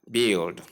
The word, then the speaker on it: build: The b sound l a short e sound l sound and the sound. When you combine the three sounds, you have build.